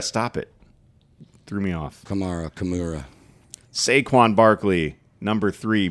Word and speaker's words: Kamara: two how do you say his name who camra stop it threw me off Kamara CA sequan Barkley number three Bree Hall number